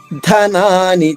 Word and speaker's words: ధనాని: ప్రాణాంస్ త్యక్త్వా త్యక్త్వా ధనాని చ. ధ మహాప్రాణము, నాని ఒక నా దీర్ఘంగా, 2వ నా హ్రస్వంగా. ప్రాణాంస్ త్యక్త్వా ధనాని చ.